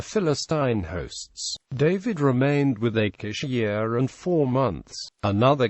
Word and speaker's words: Achish: after the Babylonian Invasion would have been pronounced akish in the 7th Century